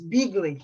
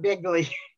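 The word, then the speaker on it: Beagley: mispronouncing his name but it's beagly not bigly oh okay hey tell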